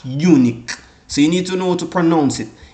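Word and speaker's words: uinic: Halak, unique. So you need to know how to pronounce it.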